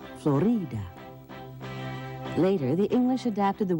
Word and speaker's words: Florida: The people who lived there called the land Cautio, but over time the name Florida was accepted. The Spanish pronounced the name with the emphasis on the middle syllable, Florida.